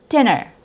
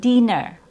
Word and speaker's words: dinner: Next example is dinner, dinner, not dinner or dinner. It's more relaxed. De, dinner, dinner.